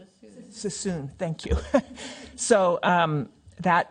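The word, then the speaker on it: Suisun: I can never say it correctly sus cissoon.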